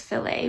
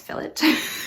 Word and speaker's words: fillet: add this fillet which i was always pronouncing it as filet but it's not it's fillet fillet is something very